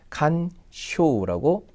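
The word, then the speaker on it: 干渉: 내버려 뒀으면 좋겠다라는 뜻이에요 그래서 간섭이라는이 한자는 간 쇼라고 2번과 같이 음독으로 읽게 됩니다 그래서 간자는 그대로 칸 이렇게 읽으면 된는데 그죠요 자가 그죠 아 이렇게 쇼로 읽는다는 것을이 단어를 모르면 사실은 조금 찾아내기가 힘든데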